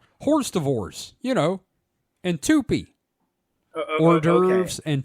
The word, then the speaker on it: hors d'oeuvres: Okay, so it's kind of like me seeing Horst of Ors or Tupi for the first time. Yeah. Well, wait. Can you pronounce that again?